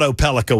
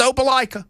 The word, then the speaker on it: Opelika: Yeah, and I Ken I I thought Opelika was a fine guess. Just a guess, but I thought it was a pretty good one. It was wrong. It's Opelika.